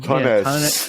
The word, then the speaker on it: tonnes: You want to say tons, but no, there's an extra N. Tonnes. Tonnes.